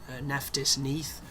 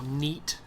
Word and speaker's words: Neith: But in between the previous video and this one, I did some googling to find out why I was calling Neith, or Neith as it's apparently pronounced, but I'm not going to pronounce it like that because yeah, it's too ingrained at this point.